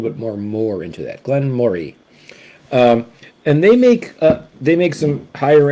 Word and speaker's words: Glenmorangie: Glenmorangie, not Moray, okay? Glenmorangie. It's like you're saying the word Murray, but you just kind of put a little bit more into that. Glenmorangie.